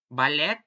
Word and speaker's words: ballet: For example, words coming from French and the eight of laundry it when I read them pronounced and the start in the French way, as in the A in the day. Ballet, buffet, ballet, crochet, socket.